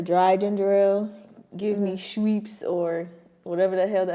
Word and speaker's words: Schweppes: I gotta make sure I say it right. Schweppes. I don't even know what you're trying to say. So. It's the brand. Schweppes. Schweppes. It's SCHWEEP.